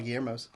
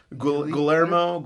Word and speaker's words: Guillermo: panic in their face guermo Guillermo Guillermo yeah and I'm like Guillermo that's me it's pronounced Guillermo I just got tired